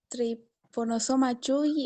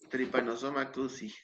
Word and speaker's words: Trypanosoma cruzi: no, es triponosoma Chuy, algo por ahí. Tripanosoma cruzi. Eso. No Bien, puedo pronunciar bien.